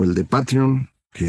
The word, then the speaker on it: Patreon: Substack o el de Patreon, que ya sabe usted se pronuncian Substack y Patreon, pero todos los conocemos como Substack y Patreon.